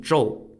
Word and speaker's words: Zhou: was actually one of the wives of King Joel and King Joel was recorded as being really